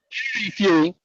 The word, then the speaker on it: Hughie Fury: Hughie Fury? Huey Fury. Hughie Fury.